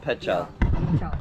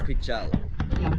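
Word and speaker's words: Pical: Pichal. Pichal.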